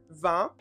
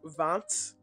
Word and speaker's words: vingt: we have this word vingt, or vingt, depending on how you pronounce it, which is 20.